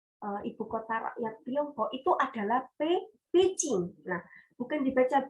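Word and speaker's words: 北京: nama ibukotanya oleh ibukota rakyat Tiongkok itu adalah packing Bukan dibaca biji happy by yang mana Bi itu dibaca P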